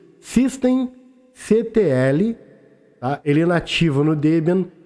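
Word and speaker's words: systemctl: o serviço do apache2 pronuncia-se System CTL a relativo no Debian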